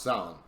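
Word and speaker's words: Samhain: now that looks like champagne but it's actually pronounced sound a gaelic festival called silent or festival of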